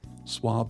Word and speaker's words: swab: This works, and it looks like it should rhyme with crab, but it doesn't. Swab and crab.